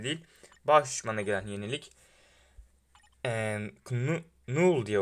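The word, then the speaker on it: Knull: Null diye okunuyor galiba. Öyle gördüm. Null diye okunuyor. Gerçek okunuşu böyle.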